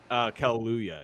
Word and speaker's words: Kaluuya: Kaluuya, yeah.